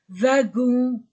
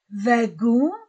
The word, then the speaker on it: wagon: Wagon, wagon, wa. Comme va ou wagon. Non pas wagon, wagon, V.